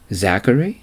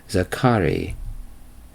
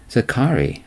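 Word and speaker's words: Zacharie: don't don't know you Zachary I asked not quite he said this is France the accent is on the middle syllable zakari zakari I'm Alan I said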